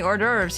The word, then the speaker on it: hors d'oeuvres: It would be quite typical to provide any hors d'oeuvres here.